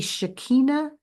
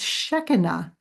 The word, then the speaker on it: Shekinah: So I was literally mispronouncing her name. She told me later that that pronunciation, Shekinah, is part of that shaking loose of old thoughts and habits and belief systems.